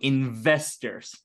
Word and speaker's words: investors: uh it's Visa okay okay so it's V sound so investors investors investors okay investors